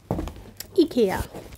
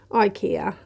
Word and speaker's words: IKEA: And I also wanted to talk a bit about IKEA. I know that you pronounce it IKEA out there. In Sweden we pronounce it IKEA, And the name comes